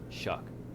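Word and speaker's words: Shough: Just watching some stuff on Red Zone, I think it's Tyler Shaw or something. He honestly didn't Shuck, play bad. Shuck, Tyler Shuck, yeah. please Like fix your pronunciation. Shuck.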